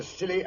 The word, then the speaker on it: Scilly: and I spent New Year's Eve off the silly Isles the silly Isles it sounds appropriate doctor